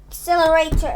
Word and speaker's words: accelerator: what is accelerator so accelerator is a noun a noun and the syllable it has five syllables so ack ack cell la rei ter and again stress is on cell excel cell so um the meaning